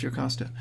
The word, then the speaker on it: Jocasta: And then, their mother, Jocasta, that's pronounced Jocasta.